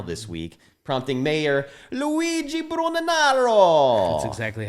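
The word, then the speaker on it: Brugnaro: famed grand canal this week prompting mayor luigi bruno narrow that's exactly how you say it who are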